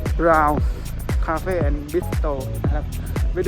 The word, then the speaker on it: BRAUN: เรา นะ ครับ พี่ r a u n อ่าน ว่า Brown Cafe and bistro ไม่